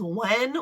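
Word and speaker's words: Nguyen: Like, to me, it reads Guyan, but when I looked, it said the anglicized version is Wen, which doesn't make sense to me.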